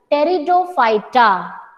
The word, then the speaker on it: Pteridophyta: For the third division, while pronunciation the alphabet P it will be silent. तो spelling में आप P लिखेंगे, but while pronouncing you will call it as Pteridophyta.